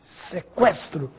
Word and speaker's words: sequestro: Agora preste atenção nestas palavras. Que, frequente, sequestro, delinquente. Agora sim, você ouviu o som da letra U.